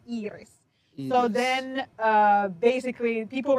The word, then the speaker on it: Iris: Uh my friends, instead of like using my first name, which is you pronounce in Finnish you say Eeris.